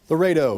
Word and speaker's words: Laredo: Can you remind me how to pronounce Lardio again? Laredo. Laredo.